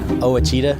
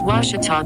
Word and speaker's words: Ouachita: make community engagement ours i've heard people say oh a cheetah oh wichita oh a cheetah is it pronounced oh akita university back in texas everybody pronounces it wichita but really it's ouachita washington washington how would